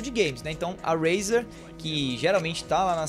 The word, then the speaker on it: Razer: Eu acho que ninguém chama ela de Razer, espero eu. Se não, ó, a pronúncia certa é Razer, tá?